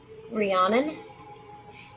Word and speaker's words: Rhiannon: Pronounced Rhiannon.